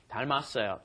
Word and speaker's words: 닮았어요: 닮았어요. So, notice the pronunciation of this. The 닮다 becomes 닮았어요 because that last, look at Niti's yes, that final M moves up in front of the next vowel, right?